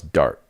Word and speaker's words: Dart: Thomas Dart rhymes with fart.